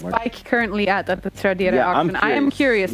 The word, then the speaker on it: Tradera: Like we have Tradera. That's how you say it. Tradera, yes. Tradera.